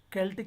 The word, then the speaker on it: Celtic: Sometimes it's called as Celts, but Celtic is the actual pronunciation, Celts.